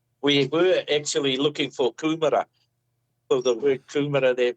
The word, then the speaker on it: Coomera: So I'm in the place called Coomera in Queensland.